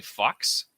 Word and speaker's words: Fuchs: in the credits and the way his name is spelt is f-u-c-h-s so it's basically fox so he's laughing at him calling him fred